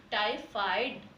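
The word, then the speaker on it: टाइफ़ाइड: Okay, तो इसे कैसे, इसका उच्चारण कैसे करेंगे हम? टाइफाइड।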